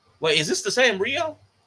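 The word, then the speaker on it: Rhio: So yeah, it's spelled R H I O. So I'm glad the 20 pound Rio is not the one we've been.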